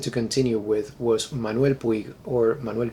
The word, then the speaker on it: Puig: In Argentina we say Manuel Puig, even though most of us know that that is not the correct pronunciation of the last name, because it's a Catalan last name.